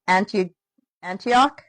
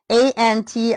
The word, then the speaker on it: Antiochus: when the Syrian king Antioch, oh, is that how you say it? Antioch? It's Antiochus. So Antiochus, maybe it's Antioch.